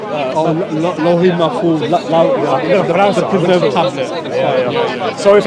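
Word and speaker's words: al-Lawh al-Mahfuz: It's written in, how do you pronounce it? Layth al-Mahfuz? Lohi Mahfuz.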